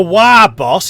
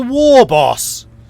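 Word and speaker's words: Waaagh: stretch marks okay see he pronounces it correctly he's not a wire boss he's a war boss their army is too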